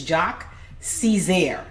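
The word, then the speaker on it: Jacques Cesaire: So his name is Jacques Caesar, is how you say his name.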